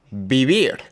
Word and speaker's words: vivir: B and V make almost the same sound. vivir The double r is rolled.